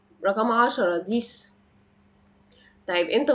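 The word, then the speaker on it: dix: الارقام يعني زي رقم سته سيس رقم 10 ديس طيب امتى بنطقه ز لما بيجي في ارقام بس مركبه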